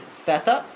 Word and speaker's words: theta: Theta, yes. So theta in modern Greek is theta, but in ancient Greek is theta, which is a aspirated T, just like in a starting T in English.